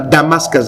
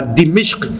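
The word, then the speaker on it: دمشق: Waswahili na Uingereza wasema Damascus, lakini wenyewe wasema Dimishq, hasa ni Dimishq bi kasri dali wa kasri al-mim. Dimishq ndio inavyotamkwa katika lugha ya Kiarabu, ambao kwenye Biblia imeandikwa Dameski.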